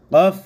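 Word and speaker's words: ك: এই হরফটার নাম হচ্ছে কফ আর এই হরফের নাম কাফ এই দুইটার উচ্চারণ কিন্তু এক হবে না দুইটার উচ্চারণ ভিন্ন প্রথমটা এটা হচ্ছে দেখেন কফ আর এটা হচ্ছে কাফ উচ্চারণগুলো লক্ষ্য রাখবেন তাহলে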